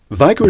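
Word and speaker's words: WAGO: uh many people say WGO because it doesn't translate too well the VA the W being pronounced V uh in other languages.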